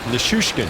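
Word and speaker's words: Nichushkin: Nishushkin.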